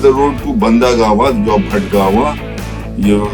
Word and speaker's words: Bhatgawan: Folks, this is the road to Bandagawa, your Bhatgawa, you mispronounced as Bhandagama.